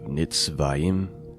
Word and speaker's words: Nitzavim: I was pronouncing that wrong to begin with. Nitzavim, which means standing.